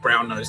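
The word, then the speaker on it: Brasenose: Attended Brown Nose College. It's spelled bra nose but it sounds like brown nose.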